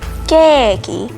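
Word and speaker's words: ケーキ: Another one, cake. Now, as I mentioned, they won't understand that either. But if you say it as keiki, they'll understand that, oh, you want cake.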